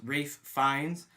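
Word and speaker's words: Ralph Fiennes: American History X uh it is pronounced Rafe fines not I'm not picking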